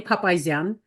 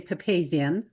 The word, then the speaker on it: Papazyan: Tim you did great it's an papan most Americans say pepian but um as long